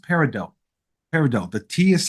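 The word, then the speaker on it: peridot: one gemstone they think of parad and it's pronounced parido parido the TS it's not paradot it's parido okay so let's just get that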